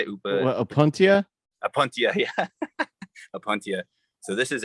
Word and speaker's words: Opuntia: Oh, this is the Opatina Patchopus. Okay. It's actually Opatina or Opatina. I always say it wrong. Upatini. How do you say it? Opuntia? Apuntia, yeah.